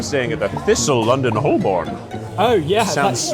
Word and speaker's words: Holborn: I mean, I'm staying at the Thistle London Holborn. Oh, yeah. That's not how you say that. I don't Well, how do you say it? Holborn?